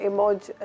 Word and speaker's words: emoji: इसमें भी बहस है कुछ लोग कहते हैं कि ये प्रोनाउंस होता है इमोज और जैसे यूके में ब्रिटिश कहते हैं इट्स इमोज लेकिन ज्यादातर हम लोग जो हैं अमेरिकन इंग्लिश को करते हैं या फिर नॉर्मल हम इसको इमोजी कहते हैं जबकि इसकी जो